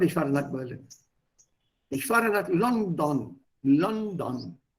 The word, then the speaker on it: Berlin: Auf Deutsch sagt man Berlin und nicht Berlin. Berlin is English. Berlin is Deutsch. Ich fahre nach Berlin. Berlin. Not ich fahre nach Berlin.